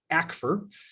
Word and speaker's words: ACFR: annual comprehensive financial report the new acronym acfr which i have it in writing from the gatsby will be pronounced akfur the community was all kind of uh waiting to see was this going to be the acfr was it going to be the yak fir how are we going to pronounce it um the gatsby chair issued something in writing using that pronunciation guide back for okay that's what we're